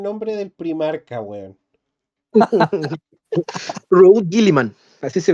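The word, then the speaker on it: Guilliman: Robot Giliman, así se pronuncia.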